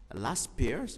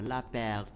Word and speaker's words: Laspeyres: زانديس دو لا بير، أو هما باللغة تيتكتبوا باللغة الإنجليزية كتنطق لاس بيرز، ولكن باللغة الفرنسية كنطقوه لا بير.